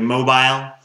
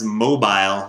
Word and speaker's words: mobile: they call it a mobile I would not even pronounce mobile like she does I would say mobile if I was going to say a mobile phone it's a mobile phone